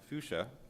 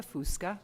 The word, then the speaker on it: Fusca: upcoming crtc hearing martha i didn't know that my name was going to be so difficult to pronounce so it's martha fusca president and ceo of